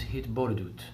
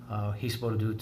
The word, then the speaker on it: hitbodedut: In Hebrew, the word that I've learned is hitbodedut. Hisbodedut in the Ashkenazi pronunciation, and it is an